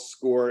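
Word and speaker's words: Scoir: okay we are using this new program called score and it's spelled s-c-o-i-r we are trying to get all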